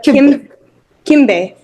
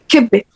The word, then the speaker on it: kibbeh: And then also about the second one you said was, how do you pronounce that one? The kimbe. Kibbeh.